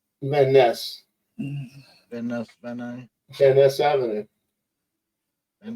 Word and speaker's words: Van Ness: Why do they pronounce it Van Nuys when it's spelled Van Ness? Van Ness.